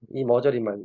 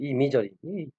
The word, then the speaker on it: imagery: 이 머저리만, 이미저리. 아니, 세상에 옛날에 이거를 읽는데, 이미저리를 읽어야 되는데, 이머저리라고 읽어요, 이머저리. 이걸 어떻게 이머저리라고 읽어요?